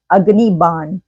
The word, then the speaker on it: अग्निबाण: सब कह रहे हैं, बट दिस इज अग्निबाण, ठीक है ना। वो एक हिंदी प्रोनाउंसिएशन होता है जिसको इस्तेमाल किया जाता है।